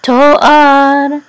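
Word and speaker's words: תֹּאַר: So the accent is on to, and this whole phrase will share this trope mark. Et nachta says et nachta. So this is yefat to'ar.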